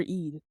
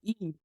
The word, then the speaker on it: Eid: to be out for Eid. What is Eid, little girl? I said Eid. E-I-D. It's a religious holiday.